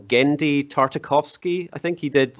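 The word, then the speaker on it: Genndy Tartakovsky: by uh the guy's name i'm probably gonna pronounce it wrong gendy tartakovsky i think he did like samurai jack and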